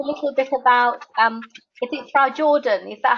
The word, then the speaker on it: Frajorden: So the J is it's a little bit silent. It's called Frajorden. Frajorden, okay. It comes in from Scandinavian. It's a Danish Norwegian word.